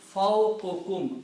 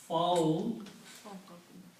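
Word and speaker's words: فوقكم: So when you combine these two words, they will be pronounced fawqukum, above you. Okay? Okay. Now, I want to remind two things here. The word, if we combine these two, will be fawqukum. One dhamma will go away.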